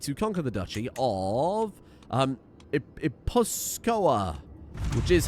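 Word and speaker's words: Gipuzkoa: I would like to conquer the duchy of Iposkoa, which is how that's pronounced.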